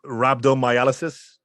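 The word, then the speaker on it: rhabdomyolysis: because he suffered do you know how to pronounce it how do you say it rabdo miysis rabdo miysis um I know we tweeted about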